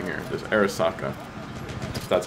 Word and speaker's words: Arisaka: but by this this one right here there's Arisaka that's how you pronounce it I'm not Asian thoughts on the